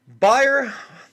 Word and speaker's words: Bayer: 10.9 billion dollars that bear has now or buyer i'm sorry i don't want to mispronounce it buyer has now agreed to